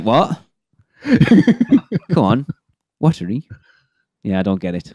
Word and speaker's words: Waturi: volcano Bay has and that word shouldn't be waturi as everyone's pronouncing it it's watery of course yeah watery as